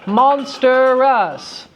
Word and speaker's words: monstrous: Would you say monstrous or monstrous? Yay! An excellent question! Yay! So, monstrous. 3-syllable word. Can it be elided? Yeah. What can it go down to? Monstrous.